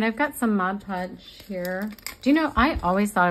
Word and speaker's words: Mod Podge: it and then I kept hearing people say mod podge and I thought they were saying it wrong